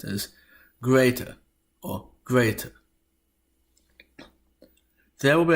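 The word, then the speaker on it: grete: But no, it should be pronounced as greater or greater.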